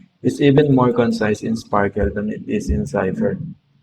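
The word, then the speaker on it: SPARQL: It is an acronyame for sparkl protocol and RDF query language pronounced sparkle.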